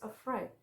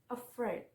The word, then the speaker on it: afraid: And two syllable word two with stress on the second syllable is afraid, afraid.